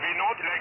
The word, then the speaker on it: Vinod: My name is Vinode.